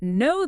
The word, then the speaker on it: know: And know that links together. The W is silent, of course, and the sound might even weaken slightly, sounding like know that.